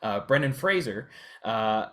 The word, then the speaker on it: Brendan Fraser: Brendan Fraser.